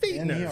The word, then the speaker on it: Fichtner: Be like your feet. F-E-E-T. Fichtner.